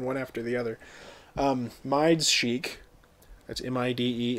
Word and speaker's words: Mide: mides chic that's m-i-d-e it is pronounced mide um right mind not midi not me day not something else it's mine um like the word bromide right the chemical bromide bro my that one um the first